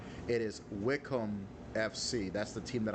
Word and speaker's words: Wycombe: wanted to make that correction because I've been pronouncing it wome all this time and that is not the correct pronunciation it is Wickham FC that's the team that I'm taking uh